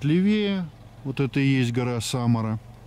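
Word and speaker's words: Samara: смотровая площадка Самара почти чтотёска Самары только ударение на первую буковку А вот это есть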